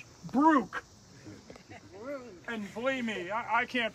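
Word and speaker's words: Brough: You see B-R-O-U-G-H, Brook. And believe me, I can't pronounce some of these names. Brugge.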